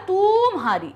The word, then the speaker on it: तुम्हारी: या कैसे हमने क्या बोला, बड़े ऊ की मात्रा नहीं होती, हमने सही उच्चारण क्या बोला था, तुम्हारी। तो यहां पर ता के नीचे कैसी मात्रा है, छोटे ऊ की मात्रा है। अब देखिए, ये है तुम्हारी,